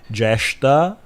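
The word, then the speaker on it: Jyeshtha: Goddess Alakshmi has long been associated with three other goddesses, namely Jyestha, with a long A vowel, goddess Nirriti, who is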